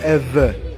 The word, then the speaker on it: Ewe: can't spell it so instead of saying ever right they started writing it ewe the Germans were the